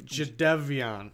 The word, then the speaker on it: Jadeveon: Is it Jadeveon or is it Jadeveon? Jadeveon. It's spelled Jadeveon.